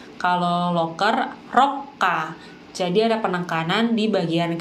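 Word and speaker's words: ロッカー: Dan yang terakhir ada locker, bahasa Jepangnya adalah rokka. Rokka. Nah, hati-hati ya antara locker dengan lorong karena mungkin sekilas terdengar mirip. Kalau lorong itu rokka, kalau locker rokka.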